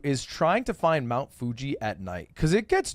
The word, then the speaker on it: Fuji: I said I was like, "How do we get to Fujian from here?" She goes, "Fujian." Fuji is how you say Mount Fuji.